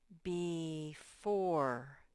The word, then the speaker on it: before: with the b but it says b 4 b 4. that e is making that o say its name b4 before astronauts practice flying